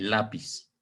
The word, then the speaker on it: lápiz: Termina en la letra Z, no termina en N, S o vocal, por lo tanto sí va a llevar su acento ortográfico. Y es obviamente grave porque la acentuación o la fuerza de voz que vamos